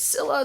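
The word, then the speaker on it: Scylla: a fight with godzilla i know i would pronounce it as skyla but a lot of people want me to pronounce it as silla so i'm gonna just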